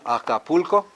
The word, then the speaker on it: Acapulco: Everyone, Acapulco. Yeah, the last one is ko, so we stress the one before that.